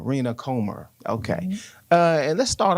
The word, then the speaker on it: Comer: Comer, Rena Comer.